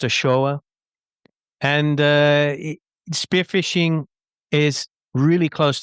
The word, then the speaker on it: Ochoa: He actually pronounced Ochoa.